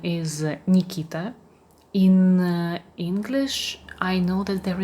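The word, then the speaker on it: Никита: in Russia it's a male name and it's pronounced like Nikita.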